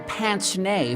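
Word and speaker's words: pince-nez: turned president with the pants nay for glasses and yes that's how it's pronounced he was the college professor with the pants nay so he's easy to bash and that's a french word and that's a french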